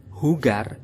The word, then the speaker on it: jugar: Jadi kata jugar yang tulisannya adalah jugar kita samakan dengan Mick Jagger. Untuk pengucapannya, ingat sahabat polyglot bahwasanya J itu dalam bahasa Spanyol akan dibaca H.